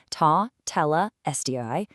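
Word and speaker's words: τετέλεσται: Tetelestai. The author helpfully provides the phonetic pronunciation for us, ta, tela, sti, and points out a fascinating historical detail.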